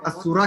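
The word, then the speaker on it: السورة: کر رہے ہیں اور السورہ کے اندر لام سائلنٹ ہے، لام کو ہم نہیں پڑھ رہے. تو اس کو کہتے ہیں کہ تکتب ولا تنطق، یعنی اس میں لام لکھا جا رہا ہے لیکن پڑھا نہیں جا رہا.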